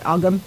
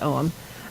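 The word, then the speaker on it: Ogham: i'll say it again om is spelled weird a lot of the celtic words are spelled weird at least according to this north american person yeah oh g-h-a-m looks like algum it's not it's owen um but all those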